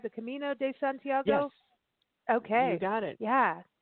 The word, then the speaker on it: Camino de Santiago: is it am i saying it right the camino de santiago okay you got it yeah yeah that's very